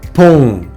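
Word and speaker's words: pont: а читається це буквосполучення в даному слові як оу носовий звук ом давайте повторимо це слово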